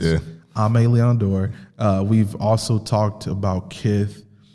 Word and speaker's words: Aimé Leon Dore: We've talked about Aimé Leon Dore, which a lot of people don't know how to pronounce. Yeah. Aimé Leon Dore.